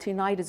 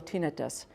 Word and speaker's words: tinnitus: And then they also complain about tinnitus or tinnitus. You know, this is the infamous buzzing and ringing in the ears. And no matter how we pronounce it, tinnitus, tinnitus, doesn't really matter.